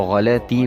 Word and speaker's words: غلطی: کہ غلط تلفظ ہے، یہ لام کے اوپر جزم نہیں ہے بلکہ لام کے اوپر بھی زبر آتا ہے، اس کو غلطی پڑھا جاتا ہے، غلطی پڑھا جاتا